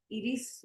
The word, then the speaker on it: Iris: Iris in Spanish, but it's Iris. All right, no, just tell me how to pronounce it.